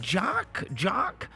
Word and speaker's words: Jock: She was telling me, she was like, is it Jock?